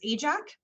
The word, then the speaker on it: AJAC: aerospace joint apprenticeship committee easier to pronounce and remember us as ajax we have some really